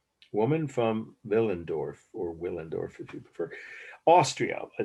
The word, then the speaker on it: Willendorf: The last word is Willendorf, or if you pronounce in German, it's W's pronounced like a V, as you may know. Ich spreche ein wenig Deutsch. Willendorf. Woman from Willendorf, or Willendorf if you prefer.